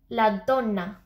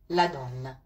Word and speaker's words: la donna: It's like, it's kind of, you don't say la donna like that really. It's more la donna. It's like, you see the difference? If you say la donna, it kind of sounds